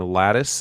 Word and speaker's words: Latice: Yeah, I've become a real advocate for this game, Lattice. It's spelled Latice.